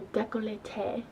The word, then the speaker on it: décolleté: always bring it down the neck and your décolleté I just looked it up that's how you pronounce it I really like to lay on